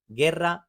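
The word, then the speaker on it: guerra: जी और ई के दरमियान यू है तो ये गे की आवाज होती है, गेर्रा।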